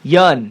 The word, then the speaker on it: Yeun: Uh and everybody who's listening out there now, you know how to pronounce his last name. Yan.